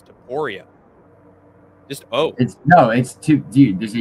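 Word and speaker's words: Topuria: him at least, and I say Tapuria, but his name according to Skatesman is Taporia.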